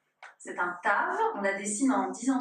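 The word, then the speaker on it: תו: Et la dernière lettre de l'alphabet, c'est un tave. On le dessine de cette façon et on la prononce t. C'est un tave.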